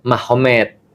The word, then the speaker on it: Magomed: Jadi tulisnya Magomet tapi bacanya Mahomed kan gitu kan ya.